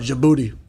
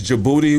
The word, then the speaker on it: Djibouti: So, this place in Africa, it's called Djibouti. Who? What? Djibouti. Who's the series called? It's called Djibouti. So the D is silent, dog.